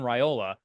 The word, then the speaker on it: Raiola: I don't, we don't want to start pronouncing it like it's a pasta, but I think it's Dylan Raiola.